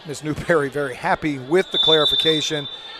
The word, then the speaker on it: Newberry: I'm trying to hear what Coach Newbury is saying. It's Newberry. Let me pronounce it correctly.